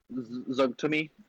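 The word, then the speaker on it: Zuggtmoy: Zugtumi, I believe, is how you pronounce her name.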